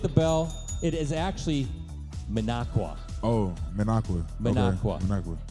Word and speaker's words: Minocqua: It is actually Minocqua.